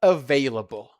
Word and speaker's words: available: Uh, how do you pronounce this word Magdalina? Available. Uh, available.